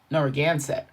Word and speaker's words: Narragansett: Let's do the pronunciation. All right. Let's see what it says. Narragansett.